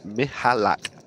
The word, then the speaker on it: Michalak: And just a quick one from Pyosco in the YouTube stream said it's pronounced Michalak. So I'm guessing a silency.